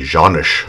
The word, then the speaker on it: Canik: But on the Canik website, and by the way, they do on their website pronounce it Canik, but anyway, they call